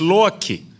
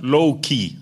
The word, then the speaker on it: Loki: and by the way it is lower key not low-key as they pronounce it in Hollywood but they are on